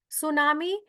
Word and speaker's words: tsunami: सुनामी, इसको लिखते टी सुनामी है, बट टी is silent, T को बोला नहीं जाता.